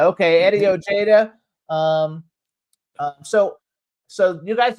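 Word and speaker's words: Ojeda: Um, they were founded by John Blae and former Twisted Sister guitarist Eddie Oha. Is that how you pronounce his last name? Ojada. Ojada. Okay. Eddie Ojada.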